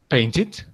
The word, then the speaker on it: painted: So here we have two more examples when we pronounce the E, okay? Needed and painted. Why? Because before the E, you see a D. And before the E, you see a T. That's the reason why, okay?